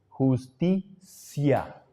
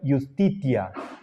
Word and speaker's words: iustitia: de vocal la pronunciación castellana es pronunciar la t como si fuera c justicia pero esa no es la pronunciación clásica por ejemplo la de cicerón Entonces si nosotros queremos apegarnos a lo que fue la pronunciación histórica le diríamos Fiat justitia per mundus pero hay la